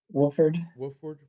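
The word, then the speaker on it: Wofford: Um, and then Tennessee and Warford. How do you say that? Wolford.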